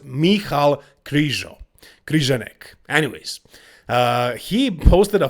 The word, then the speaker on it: Michal Krizo: No, not Michael Krizo. I know that's how you guys call him, you Americans, but actually his name is pronounced Michal Krizo.